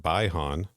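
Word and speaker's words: Bi-Han: we've got kevin ottsjee as bihan but in this they pronounce it by han they did and he's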